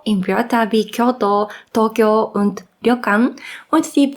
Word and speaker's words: Kyoto: deutschen Muttersprach beim Japanisch lernen ist die falsche Aussprache von J in Wörter wie Kyoto Tokyo und lokan und die Vokallängen z.B wird